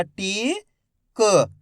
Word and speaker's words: टीका: बड़ी ई की मात्रा टी, क टीक, टीक पढ़ते हैं, का आधा उच्चारण कर देते हैं टीक। यहाँ पे आ की मात्रा है तो आ की मात्रा के साथ खींच के पढ़ेंगे टीका।